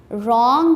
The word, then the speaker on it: wrong: Wrong में also first letter W is silent.